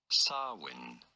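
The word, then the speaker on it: Samhain: go about pronouncing it swin you don't want stress on the I mean I could have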